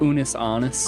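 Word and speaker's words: Unus Annus: It is called Unis Annis. Did I pronounce that correctly? No. How does it pronounced? Unis Annis. Honest.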